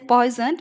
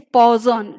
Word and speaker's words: Poisson: Normally we pronounce it as Poisson, but actually its pronunciation is Poisson distribution.